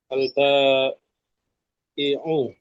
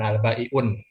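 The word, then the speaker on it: البائع: alba alba iu Al-Ba'i'u, mumtaz. Ya nggak di tanwin. Karena tanwin dengan alif lam dia musuhan. Kita nggak mau ketemu. Ya, makanya bacanya al-ba'i'u, bukan al-ba'i'un. Al-ba'i'un.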